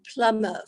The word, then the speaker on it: plumber: A simple word like the word plumber, for instance. There is no B. There is a B in it written, of course, but that shows you the illogicality of the English language.